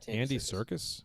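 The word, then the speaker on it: Andy Serkis: the Circus Circus yeah Andy Circus yeah yeah yeah it's it's spelled different but it's I think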